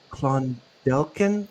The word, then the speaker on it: Clondalkin: Uh Sarah, can you go back to the beginning of your experiences growing up in Clondelen? I think you pronounce it.